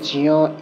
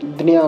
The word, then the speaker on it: জ্ঞ: পঞ্চম নাসিকা বর্ণ ঞ, অর্থাৎ জ এবং ঞ, এই 2 বর্ণের সংযোগে এই যুক্তাক্ষর। যেহেতু এর মধ্যে জ এবং ইয়র সংযোগ আছে, তো এর উচ্চারণ জিয়া ই হওয়া উচিত, এমনটা